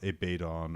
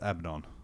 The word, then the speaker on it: Abaddon: Abaddon is is and I know it's Abaddon now and not a paid on or or any of the other weird pronunciations abadan yeah it's Abaddon yeah yeah well I know